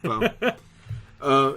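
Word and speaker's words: Fou: So it is pronounced Foe.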